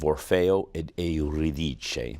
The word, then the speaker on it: Orfeo ed Euridice: Balanchine was going to choreograph the world premiere of Orfeo ed Euridice, the Italian pronunciation for Orpheus and Eurydice.